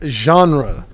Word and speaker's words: genre: now let's talk about a jar or genre whatever you how do you say that damn word it's a genre a genre okay yeah so what